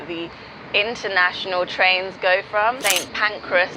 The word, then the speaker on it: St. Pancras: St. Pancras, not St. Pancreas, I struggled with this.